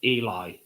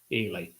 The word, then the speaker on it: Ely: Do you pronounce it Eli? Ely.